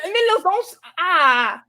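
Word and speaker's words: Mieloszyńska: Mieloszynska. Okay. It's SKI is the man. SKA is a female.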